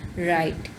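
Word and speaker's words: write: को नहीं आप देखें, अब यहाँ पर डब्ल्यू शुरू में आ रहा है लेकिन आपको पता है डब्ल्यू यहाँ पर साइलेंट हो रहा है और आर की साउंड दे रहा है.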